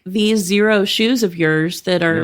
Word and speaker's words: Xero: this that made these Zero. shoes? Zero? But it's spelled Xero. XERO.